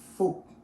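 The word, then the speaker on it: Phuc: it's not that way it doesn't sound like that too by the way so actually it sounds like folk folk like food and actually my name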